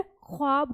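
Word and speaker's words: ख़्वाब: से यह ख्वाब था तो हमने इसमें द के नीचे नुक्ता लगा दिया तो इसे हमने ख्वाब कर दिया तो जो इसकी मूल भाषा में इसका उच्चारण है हमने इसका वही उच्चारण कर दिया तो अब ये जो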